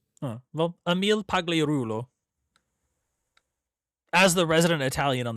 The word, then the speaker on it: Pagliarulo: I don't know if it's a hard G or a soft G, but Soft G. He's like Italian, I guess, or something. well, Emil Pagliarulo.